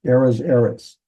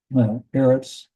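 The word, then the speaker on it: ארץ: We have two sigil vowels, but whenever you have a seglet noun, the accent is over the first letter. So we have eras. And I don't know if you want to, for memory device, you want to say the cedar is on the land, because we'd say eras.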